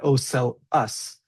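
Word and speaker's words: ocellus: So they're the pronounced oeli is pronounced oeli oeli in the plural form and oel us in the uh singular form.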